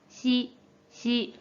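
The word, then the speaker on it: 雌: 한편 음으로는 し、し、 라고 짧게 발음해주면 돼요.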